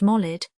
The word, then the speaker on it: Maulid: None save a defective ear would hold, as Lane does, Maulid equals birth festival, more properly pronounced Molid.